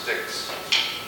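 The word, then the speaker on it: stichs: It's spelled that way, but it's pronounced sticks.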